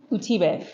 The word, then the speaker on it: Utibe: Utibe. Utibe. Or you can call me Tibe, but Utibe is how it's pronounced.